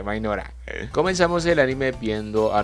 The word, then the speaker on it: Mynoghra: Bienvenidos al resumen del anime Isekai Mokushiroku Mainora, sí, así se pronuncia, Mainora.